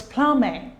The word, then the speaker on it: plumbing: plus a gives us Plumbing so the word is plumbing and a plumber Planet okay the B is also silent in these derivatives we have p l